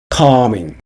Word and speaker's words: calming: positive 긍정적인 positive 긍정적인 calming 진정시키는 calming 진정시키는 calming에서 L은 발음되지 않습니다.